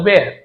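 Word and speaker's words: bear: यानी होता है भालू बहुत बियर बोलते हैं एक्चुअल में बियर जो होता है B double E आर बियर बियर याने जो जो मादक वस्तु होती है शराब जैसे जो बियर होता है बहुत से लोग जानते हैं वो बियर होता है एक्चुअल बेर होता है बेर टेडी बेर म टेडी बियर नहीं टेडी बेयर वही बेर है बेर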